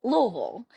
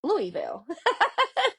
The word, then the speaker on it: Louisville: And so if you're from Kentucky, you pronounce it Louisville. But if you're an out of stater, a lot of times we hear folks pronounce it Louisville.